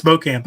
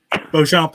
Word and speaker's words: Beauchamp: It's Beauchamp. Pretty You right? close. It's Beauchamp actually, but Beauchamp is the French pronunciation.